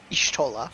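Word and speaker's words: Y'shtola: Ishtola.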